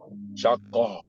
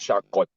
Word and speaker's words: شقة: But for ta marbuto, so you change it completely to how. Naam, askunu fi shaqqa, shaqqa, not shaqqat.